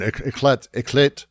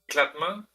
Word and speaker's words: éclat: Éclat. Is that it? Éclatement? It's éclat. Éclat. Like éclater, to burst, to explode.